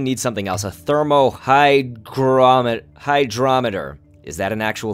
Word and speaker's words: hygrometer: it's just for that right here how to pronounce it hygrometer hygrometer hygrometer hygrometer okay so clearly I am